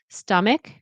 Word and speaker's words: stomach: Stomach. Be careful. The ch is a c sound. Stomach. And it's not stomach, it's stomach. It's like ick.